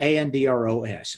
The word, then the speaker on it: Andros: It's spelled Andros, Andros Island.